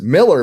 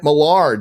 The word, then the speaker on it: Millar: on Rumble by the way I used to pronounce Mark's name as Miller but Gary caused me to start pronouncing it malar did he steer me astray no my pronunciation